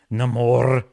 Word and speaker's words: Namor: the one that uh corrected the pronunciation of Namor to Namor it's Namor she also had the